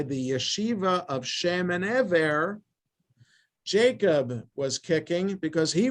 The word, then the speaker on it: Eber: the yeshiva of shame the ever as it's pronounced in hebrew uh shem and eber